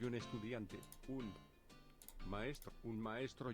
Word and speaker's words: estudiante: Estudiante would be more correct pronunciation for Latin Spanish, I guess.